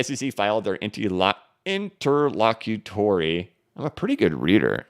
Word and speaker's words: interlocutory: their into interlock can't I can't pronounce it interlocutory oh my gosh that was brutal into Locker Larry we're gonna we're gonna get the correct wording for you guys intraocularly no okay interlocutory there we go uh the SEC filed